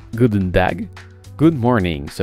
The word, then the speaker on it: goedendag: se prononcent open door good day se prononcent goût d'une dague good morning se prononcent